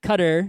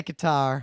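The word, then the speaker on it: Qatar: the World Cup to Cutter or however you want to pronounce it Kar however I say qar I say qar but everyone else seems to be saying cutter I don't really care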